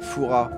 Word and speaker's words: Fouras: Foura, c'est les touristes qui prononcent le S. Père Foura. Ah ouais, Père Fouras.